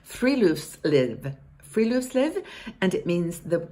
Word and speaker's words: friluftsliv: It's pronounced friluftsliv.